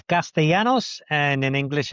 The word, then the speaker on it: Castellanos: In Spanish it's Castellanos and in English it's Castellanos.